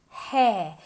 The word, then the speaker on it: hair: Es con una H aspirada. Hair, no. Hair, hair. Como si te calentaras las manos cuando tienes frío.